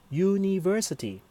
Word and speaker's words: university: University, even it is spelled u, but the sound is a consonant sound, u, so we use our university.